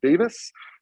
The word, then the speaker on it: Davies: named Paul uh well Paul Davies but I think Paul pronounce it Davis but um but who